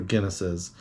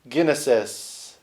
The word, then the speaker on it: Guinnesses: But don't just take my word for it on the tasting notes for Guinnesses.